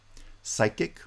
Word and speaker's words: psychic: Psychic, right? The PS at the beginning of cyclic is not pronounced. We pronounce it with a S, psychic.